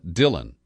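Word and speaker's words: Dhillon: But the lawyer in question did offer advice to Trump, and his name is Uttam Dillon. Last name is spelled D-H-I-L-L-O-N.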